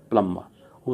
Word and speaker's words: plumber: अब PLUMBER, प्लम्बर नहीं बोलूँगा इसको मैं, प्लम्बर क्या बोलूँगा मैं, प्लम्बर।